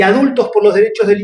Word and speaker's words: adultxs: Lo pronunciamos igual, adultos, pero en todas las redes van a ver adultos con la X en lugar de la O.